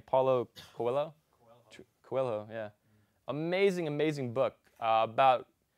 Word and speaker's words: Coelho: Coelho, yeah.